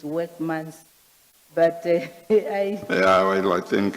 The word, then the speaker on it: Werksmans: like the appointment of, I call them Werksmans, but I understand it's not the correct pronunciation, it's Workmans.